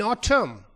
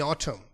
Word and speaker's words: autumn: And say loudly, in autumn. The N is silent in autumn. In autumn, when the trees fall their leaves, that is autumn season.